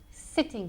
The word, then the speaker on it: sitting: So, sitting con S de serpiente, sitting.